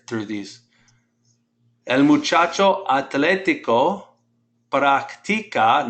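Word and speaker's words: práctica: El muchacho atlético practica, notice how I pronounce that, put the stress on that I. Practica, say that, practica.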